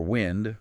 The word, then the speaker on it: wind: Or wind, rhyming with find.